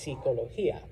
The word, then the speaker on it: psicología: Students will mix these up because en español, we have abandoned that stupid silent P that Greek seems to love. Okay? So it's not psychology, it's just psicología.